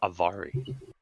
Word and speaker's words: Avari: Yeah, it's Avari. Yeah, it's Avari. You know how I remembered? Yes, we know, John. Rhymes with ovary.